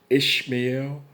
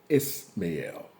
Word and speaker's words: Ishmael: Two pronunciations. It's Ishmael or Ismael. Now, in the King James Version Bible, it's pronounced I-S-H, Ishmael. Okay? In the records of Josephus, is pronounced Ismael.